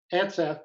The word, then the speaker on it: Atseff: Is that how you pronounce it? 2 syllables. Atseff.